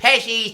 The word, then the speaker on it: Pesci's: Do you have to say it like Joe Pesci? Yeah. Hey, it's Pesci's Take and Bake Pizza.